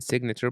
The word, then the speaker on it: signature: In signature, pronounce the G.